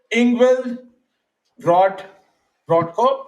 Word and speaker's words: Ingvild Brodtkorb: She is Ingvild Brodtkorb. Am I pronouncing it right?